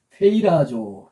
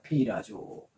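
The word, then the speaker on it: πειράζω: 어떻게 읽느냐? 읽어 보세요. 페이라조 페이라조입니다. 페이라조 페이라조입니다.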